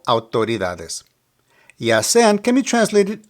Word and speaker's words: autoridades: The more challenging pronunciation here will be autoridades. The AU can be pronounced like the OW in how, but just make it a little quicker. Au. The stress of the word is on the DA.